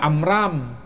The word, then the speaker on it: Amram: ada nama Imran ada amram disebutkan amram di sini Iya bukan Imran Tapi amram pelafalan Ada kemiripan Abraham Ibrahim Abraham Ibrahim